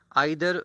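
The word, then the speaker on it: either: आपने इसका pronunciation ईदर भी सुना होगा। दोनों प्रोनाउंसिएशन जो है वो मुस्तामल है, इस्तेमाल में आते हैं। आइदर ब्रिटिश प्रोनाउंसिएशन है, ईदर अमेरिकन है।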